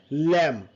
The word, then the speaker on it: lamb: And there is a B is silent over here. You can say lamb. অনেক lamb বলি আমরা অনেকে, it's a lamb.